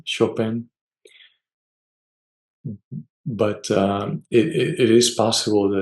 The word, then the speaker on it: Chopin: Chopin? Chopin.